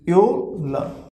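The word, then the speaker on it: Öl: So pronunciation is yo. Now let's have example. So this is yol.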